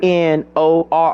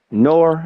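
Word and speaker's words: Knorr: Have you ever heard of uh K N O R R Nor? It's called Nor or Canora or however you want to pronounce it.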